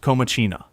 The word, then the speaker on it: Comacina: Pronounced Comacina.